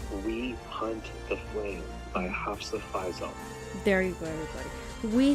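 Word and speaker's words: Hafsah Faizal: Just because I don't want to mispronounce it, but teach me how to say it. Hafsa Faisal.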